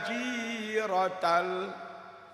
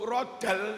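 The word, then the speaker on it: جيرة: "Adfatay jirotal", "adfatay jirotal", bukan "rodal". Bentuk jamak "Jarun" bisa berupa " jiron", atau "jirotun". "Jarun", yang berarti tetangga, jadi gunakan "tajiratal", bukan "yajirodal".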